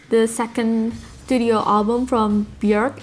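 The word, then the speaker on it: Björk: second studio album from bjerg it rhymes with jerk and coincidentally my second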